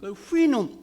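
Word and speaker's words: Houyhnhnm: 굉장히 아주 난감합니다 근데 되게 아 영미 사람들은 후인 후인 헤매다 고 바람을 합니다 후인 응 그랬어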